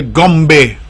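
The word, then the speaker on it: Goombay: I was then afforded the opportunity to go to something they call the Gombe Festival. G-O-O-M-B-A-Y, I think it's spelled, but it's pronounced gum as in chewing gum.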